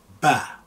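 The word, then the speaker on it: باء: Now, the next is Ba. Ba is also very simple to pronounce. Ba, simple B, Ba.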